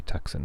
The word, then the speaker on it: Tucson: pronounce them i mean tucson is a really good example i think that's because the car the tucson uh i think there's a car but you want to say taxin right um uncomfortable the spanish